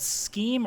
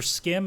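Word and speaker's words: Schim: So first off, I finished a very short game called Scheme or Skim. It's spelled S-C-H-I-M.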